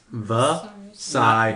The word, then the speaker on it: Vasirus: Vasirus. Not Osiris. Not Osiris. There's a V.